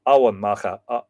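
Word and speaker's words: Emain Macha: I'm going to pronounce it Awan Macha. Oh, it's like, it's not quite Owen, but it's less. The way I've been pronouncing it for years is Awan. But when I was up there, I was told it is a little bit more like, oh, or maybe I should just say Owen Macha.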